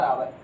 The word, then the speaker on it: hour: जैसे बच्चों यहाँ पर हमने लिखा HOUR आवर, इसको हावर नहीं पढ़ते बच्चों, आवर पढ़ते हैं।